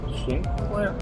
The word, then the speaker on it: Sinclair: Oh, Sinclair. That's my name. Or Shinclair. I just uh Korean pronunciation whatever.